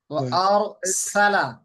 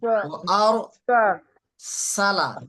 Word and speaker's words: وأرسل: এই সিনের উচ্চারণটা কিছুটা সার মতো শোনা গেছে। وأرسل ও আর সালা وأرسل সার মাখা যে চলে যাচ্ছে জিব্বা। জহির ভাই আমি একটু সহজ করে দিচ্ছি। আপনি যখন উচ্চারণ করতেছেন আপনার জিব্বাটা হয়তো উপরের দিকে চলে যাচ্ছে, ও আর সালা এরকম জিব্বাটা উপরের দিকে, উপরে যাবে না। জিব্বা হচ্ছে নিচের নিচের সামনে দুই দাঁতের আগার সঙ্গে লাগবে।